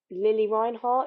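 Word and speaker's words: Lili Reinhart: my life uh doing a Tik Tok with Lily Reinhardt is that how we say her name yes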